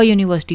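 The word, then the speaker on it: university: यूनिवर्सिटी जो word है इसकी स्टार्टिंग साउंड ऐसे आती है यूनिवर्सिटी ठीक है से यूनिवर्सिटी यूनिवर्सिटी इसको ऐसे आप प्रोनाउंस कर रहे हो स्टार्टिंग साउंड आपकी यह है यूनिवर्सिटी वाई से वाई आपका कसोनेंट है इस वजह से ए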